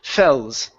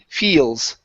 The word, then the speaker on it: feels: Right here you're saying fells. Okay, this needs to be a long E sound, so it's E, feels.